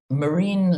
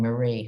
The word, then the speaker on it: Marine: i think i'm 26 marine le pen no i'm not mispronouncing marie her name is marine as in marine le pen who's the daughter of